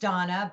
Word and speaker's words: Dana: a little uh unusually it's pronounced donna but it's spelled d-a-n-a and then her last